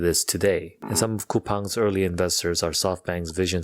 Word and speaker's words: Coupang: discounts which is where the name comes from kupang is a match of the word coupon and